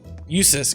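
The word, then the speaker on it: Jusis: Usus? Usus, because it's like useless.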